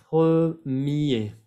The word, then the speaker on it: premier: Premier. No vayan a pronunciar la R.